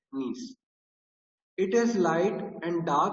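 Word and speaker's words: gneiss: क्ड now next है नीस है ना इसमें जी साइलेंट रहेगा नीस नीस इज फॉर्म फ्रॉम द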